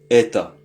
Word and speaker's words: это: Mais lorsque c'est au féminin, on dit eta. Eta. Alors pour le neutre on dit eta. Vous voyez il y a un o mais c'est prononcé comme un a.